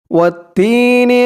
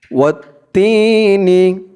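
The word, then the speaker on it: وَالتِّينِ: ওয়াত-তিনি, ওয়াও দিয়ে তা ধরবে, ওয়াও তা জবর ওয়াত, তা ইয়াজের তি, তি জেরের পরে ইয়া সাকিন এক আলিফ টান, ওয়াত্তি। ওয়াও দিয়ে এখানে সরাসরি এই তা ধরবে, মাঝখানে আলিফ এবং লাম দুইটা অক্ষর বাদ যাবে। ওয়াত্তি, নুন জের নি, ওয়াত্তিনি, ওয়াত্তিনি।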